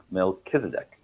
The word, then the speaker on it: Melchizedek: Mck me Melkisedc.